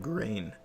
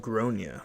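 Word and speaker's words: Gráinne: I met this mom today, and she had a kid named Grain, but it's pronounced Gronia, or however it was pronounced.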